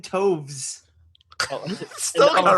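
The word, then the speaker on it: Toews: The W makes a V sound. Jonathan Toves.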